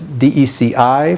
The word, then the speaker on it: DECI: And the mnemonic is DECI for decimal input, so we pronounce that deci.